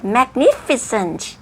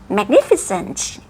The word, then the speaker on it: magnificent: คะ คำ ถัด ไป magnificent magnificent อย่า ลืม นะ คะ สุด ท้าย T ออก เสียง ชัด ๆ แล้ว ก็ คำ ถัด